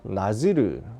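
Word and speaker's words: נזיר: 나실이라는 말은 히브리어입니다. 그래서 나지르, 발음이 그렇다고 합니다.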